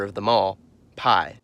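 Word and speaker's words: П: I remember how to pronounce it by noticing its resemblance to a perfect, peaceful staple.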